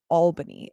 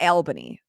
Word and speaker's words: Albany: I'm sick of everybody mispronouncing Albany it's not Albany it's not 100% it is Albany I know there's not